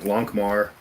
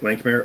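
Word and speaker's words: Lankhmar: would buy the sets for like expansions, like Lankmar. I bought that set. yeah, like me. I got Dark Sun. Yeah, Lankmare.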